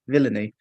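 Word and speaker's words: Denis Villeneuve: our first film by Dennis Villeneuve which makes it our first Dennis but then I realized that his name is pronounced villainy so I had to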